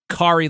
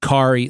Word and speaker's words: Kari: It's spelled Kari, but she says Carrie.